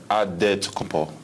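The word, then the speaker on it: Antetokounmpo: helps set the record straight of how you pronounce it in a deal wait you got a save with the beasts it's odd dead to come Paul but in the Greek way you save at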